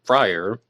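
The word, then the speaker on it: Fryrear: had a relative named Frier who spelled the name F R Y R E A R but pronounced it Frier.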